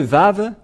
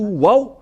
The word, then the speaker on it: vav: dans l'alphabet voilà le vave voilà vave ou vave c'est bien ça donc c'est pas du tout waouh mais on le prononce bien vav et le vav est